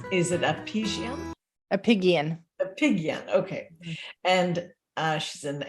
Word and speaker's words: Apigian: Dr and I didn't check your name pronunciates is it appease a pigeon a pigeon okay and uh she's an MD an m